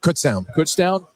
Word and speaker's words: Kutztown: Kutztown.